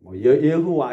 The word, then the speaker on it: 여호와: 이게 한글 번역인데 원문으로 하면 야훼라고도 하고 여호와 이렇게 뭔가 좀 발음이 좀 부정확하긴 한데 우리는 이제 공통적으로 그냥 여호와라고 하고 또 우리 그 순복음에서는 야훼라고 이제 표현을 하죠.